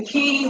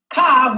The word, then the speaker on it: ka: Now, the word K or Ka, when you get the key, which is K and Ka, Ka, which people say Ka, but it should be pronounced K, is defined as a